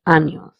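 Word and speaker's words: años: The little squiggly line on top of n makes that n sound as near instead of n. Hence the sound of this word is anos.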